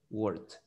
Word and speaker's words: worked: O la K no tiene vibración. Entonces cuando usted dice work en el presente, ese work, esa K no tiene vibración. Entonces va a decir esa pronunciación de la ED como una T y ahí va a decir worked.